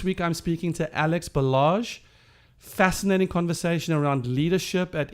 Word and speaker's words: Balázs: last name is pronounced balázs and how do you help Americans who struggle with that yeah garage but with a be garage not exactly the R that would be interesting barage noble I love ya